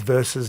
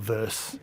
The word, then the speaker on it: versus: It is versus, not verse.